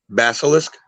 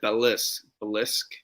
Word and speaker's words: basilisk: to stone or whatever yo how do you pronounce it basilisk okay i say i said bellas blisk oh basilisk basil's okay yep um so yeah